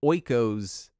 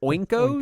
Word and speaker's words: Oikos: Andrew mispronounced Oikos yogurt as Oinkos, Oinkos.